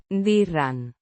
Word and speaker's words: dirán: Dirán. The third person plural future indicative form of the verb. Decir. Meaning, to say, or, to tell. Pronounced. Dirán. With a soft D. and a slightly rolled R.